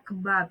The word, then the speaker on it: kebab: Nah, ini cara bacanya kebab ya, walaupun tulisannya kabob gitu, tapi cara bacanya kebab.